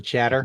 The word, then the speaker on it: chattr: do that truncate and CHATTR command. I pronounce it chatter. Do that. Yeah, you got to do the truncate and shatter first, then do the fallocate, and then the chmod, make swap on.